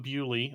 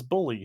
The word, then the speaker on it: Bewley: so i am dom bewley also a german last name often mispronounced as bully so i i sympathize